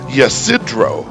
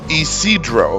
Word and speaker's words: San Ysidro: English speakers who are unfamiliar with the area are tempted to say Ysidro, but this one remains true to Spanish pronunciation, and it's Isidro.